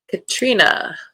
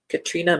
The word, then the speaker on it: Katrina: Katrina. Now, that is how it is pronounced. I sat next to an author at a mystery book convention, Katrina McPherson.